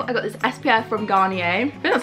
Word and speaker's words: Garnier: first of all I got this SPF from Garnier that's how you pronounce it 50 plus SPF let me unbox